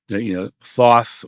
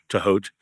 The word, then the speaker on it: Thoth: All his stuff about the Thoth, or as I prefer the Egyptian pronunciation, Tahot.